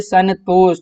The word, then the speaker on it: संतोष: तो आप उच्चारण करिए संतोष, तो क्या हो रहा है? ना का हमें साउंड मिल रहा है, ठीक ना, तो संतोष हो गया।